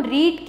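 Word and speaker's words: read: past में करेंगे तो हम रीड की यहां पर सेकंड फॉर्म लगाएंगे रेड लेकिन स्पेलिंग उसकी सेम ही होती है तो यहां पर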